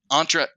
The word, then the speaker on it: Entra: are the three big ones and so with entra entra or intra how do you say it Rob intra ID